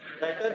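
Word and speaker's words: debtor: ये लफ्ज है डेप्टर, लेकिन इसमें बी साइलेंट है, लिखते हुए बी आएगा लेकिन बोलते हुए नहीं आएगा, क्या वर्ड बोला मैंने, 3 दफा बोल दो, क्या बोला, डेटर डेटर डेटर डेटर, एक दफा और, डेटर कौन होता है?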